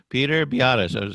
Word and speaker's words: Biadasz: Okay, okay, Peter Biadasz.